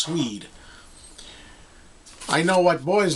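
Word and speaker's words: Swede: Hooked on a Feeling by Blue swed not blue suede I believe it's pronounced swed I know what boys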